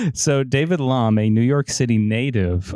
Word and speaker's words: Lahm: David, is it Lam? It is rhymes with calm. So David Lom, a New York City